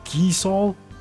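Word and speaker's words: Gysahl: It's pronounced geesol? I've always called it geisel.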